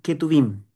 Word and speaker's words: Ketuvim: La T de Torá, la N de Nevi'im, que significa profetas, y la K o J, se pronuncia como J, son los Ketuvim.